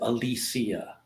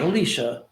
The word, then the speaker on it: Alicia: from Alisia Silverstone and she does pronounce it Alisia not Alicia Alicia I think the film